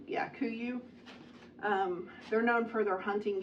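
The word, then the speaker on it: KUIU: Kuyu? Yeah, Kuyu.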